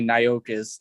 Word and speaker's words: Nyxkiss: it was just Nyxkiss, but it was, people were like, how the fuck do you say that, because that's how you say Nyxkiss.